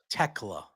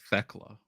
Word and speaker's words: Tekla: I believe it's Tekla. Because it's THE, so I thought it was Thekla. No, I think it's Tekla.